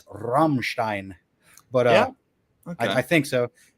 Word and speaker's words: Rammstein: I've called them Ramstein. They're like one of the most mispronounced bands ever. Like, I've heard Ramstein. I believe that the proper's Rammstein, but okay.